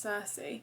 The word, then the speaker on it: Circe: I feel quite confident that it's pronounced Circe.